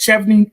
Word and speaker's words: Chevening: Babe, I've had different versions of Chevening in my life, right? Chevening. I mean, a lot. But Chevening.